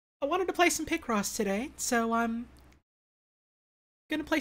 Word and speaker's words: Picross: oh he pronounces it pie cross uh because he knows that it makes me miserable he pronounces it wrong on purpose as a joke i can't read